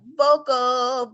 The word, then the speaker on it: Voelkel: get it wrong so i said it's pronounced vocal like a vocal arrangement or you know vocal chords you know so and